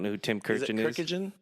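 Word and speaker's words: Kurkjian: Kirkjian? Kirkjian. I don't know. I think it's 3 syllables.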